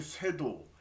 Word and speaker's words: 쇄도: 그 다음에 여기 쇄도, 이거를 살도라고 읽으면 안 되고 쇄도라고 읽어야 되죠.